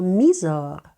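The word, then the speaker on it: Mysore: я вам Нагадую що літера ігк завжди читається як і тому ми кажемо мізор Сандал майсору або майсорський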